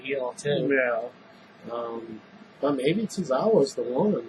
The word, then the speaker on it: Tozawa: Tozawa, yeah, you said it. I'm sorry if I You're good.